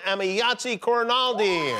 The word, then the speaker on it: Emayatzy Corinealdi: watch new episodes Tuesdays on Hulu please welcome amiyatzi coronaldi I hope I pronounced your name correctly you pronounce my name